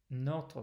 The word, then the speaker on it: notre: So that means a word like notre is a good example for us, because English speakers tend to close the first consonant or first syllable with a consonant.